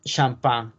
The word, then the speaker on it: champagne: es champagne la ponencia acuérdense que la tela y la s en las palabras francesas no se pronuncia champagne y de hecho la g y la n hacen con una n como champagne se requiere también de